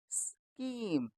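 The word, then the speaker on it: scheme: प्यारे दोस्तों, इसमें एच अपना साइलेंट है, इसीलिए हम इसको क्या पढ़ेंगे? स्कीम, स्कीम। एच की आवाज़ हमें नहीं पढ़नी, तो ये क्या बन जाएगा? स्कीम।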